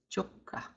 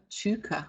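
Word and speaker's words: chʋka: It's not chuka. We don't have the sound of oo in Choctaw. A lot of people want to sound the U as oo. That's probably an English pronunciation. We want to sound our U as the O in Choctaw, not the oo in English.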